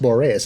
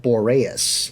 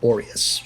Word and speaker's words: Boreas: into the mouth of boreas and he's actually pronounced Boris I've been calling emporious this whole time and